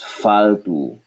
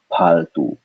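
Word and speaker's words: फ़ालतू: Paltu, domesticated, whereas faltu is rubbish, not needed, worthless. Faltu. And of course, like I said, in some places of India, people cannot pronounce fa, and so they will still say paltu, paltu.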